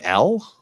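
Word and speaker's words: Elle: L, is his name L? Yes, because she's been calling him L the entire time. They spell it E-L-L-E, like a girl's name.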